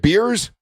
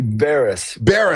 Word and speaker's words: Beres: Is it Beers? It's well that it could be depending on the day. Uh it's actually it's actually Baris Hungarian for blacksmith.